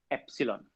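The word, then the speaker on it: epsilon: जाता है 1/4 पाई एप्सिलॉन या एप्सिलॉन। ये सिंबल को प्रोनाउंस करते हैं एप्सिलॉन या एप्सिलॉन।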